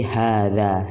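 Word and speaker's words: هذا: Nah, jadi ha yang aslinya ini ada alif di depannya, ha. Nah, ketika masuk ke dalam isim isyarah, dia alifnya itu tidak dituliskan lagi, tapi dalam pengucapan tetap ada alifnya.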